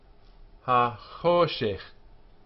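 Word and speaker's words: הַחֹשֶׁךְ: Three syllables here. Ha, cho, shech. Ha, short. Cho, long vowel. And shech, short. The accent, of course, is here.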